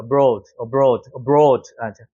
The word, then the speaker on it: abroad: abroad라고 하는데 여기 강세가 여기 적용이 되죠. 그래서 이게 오 발음이 나는 거예요. 오. 여기 같은 경우도 여기는 강세가 없으니까 어를 세게 있는 게 아니라 abroad가 되는 거죠. abroad.